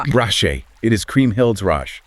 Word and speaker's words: Rache: Rache.